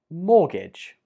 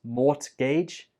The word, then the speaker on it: mortgage: Mortgage. This word has a silent letter, and it is the T in the spelling.